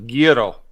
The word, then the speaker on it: gyro: It's actually, in actuality, though, Scott, it's actually supposed to be pronounced gyro.